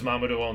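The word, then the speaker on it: Mamudoon: Yeah, it's Japanese, so it's Mamadou-on. There's only one way to say every syllable in Japanese. There's no, nothing like phonics in English, where you have to, like, look at the context or already know the word to have some clue for how to say it.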